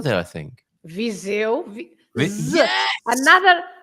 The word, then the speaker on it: Viseu: And I got away with my Visio there, I think. Viseu. Yes! Another example. Another example of an S between two vowels, right?